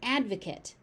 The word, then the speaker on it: advocate: This word can be used as a noun or a verb and it follows pattern two. So the ending pronunciation changes even though the spelling does not change. So as a noun it's an advocate. Advocate. Advocate.